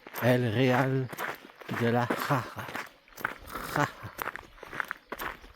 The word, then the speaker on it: Jara: Jara. Je vais la prononcer parce que c'est un J A R A. Et le J, c'est R. Et le R, c'est R.